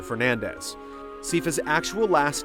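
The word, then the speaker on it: Belnades: was Isabel nades however according to the Japanese versions of the game as well as Castlevania 64 or the name is pronounced closer to Fernandez ca's actual last name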